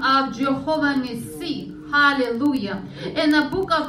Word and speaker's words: Nissi: Do I pronounce this right? Nissi? Yeah.